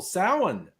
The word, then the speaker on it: Samhain: It looks like Sam Hain when it's written out, but it's Gaeilge. It's the Gaelic language. It's counterintuitive. It's pronounced Samhain.